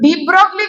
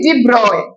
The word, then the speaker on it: de Broglie: তো ডি ব্রগলি কি বললো, আমি ব্রগলি বলছি, ডি ব্রগলি, তাই না? বাংলা বইগুলোতেও দেখবা ব্রগলি দেওয়া, কিন্তু ইট ইজ ডি ব্রয়, মানে যদি তুমি ঠিকভাবে প্রোনাউন্সিয়েট করো।